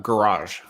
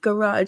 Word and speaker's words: garage: joke because there there's there's two G's in garage one is hard and one is soft and so oh that's